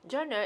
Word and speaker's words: genre: like so french okay so how you pronounce it it's like john okay genre okay so